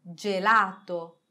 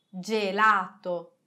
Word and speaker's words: gelato: prima che je di gelato gelato angelo angelo gentile gentile avete visto che il suolo di ge è un suono dolce ma se noi aggiungiamo